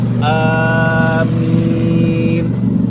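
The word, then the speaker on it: آمين: Tapi a-nya panjang, minnya p panjang. Amin. Paham ya? Ada dua yang panjang.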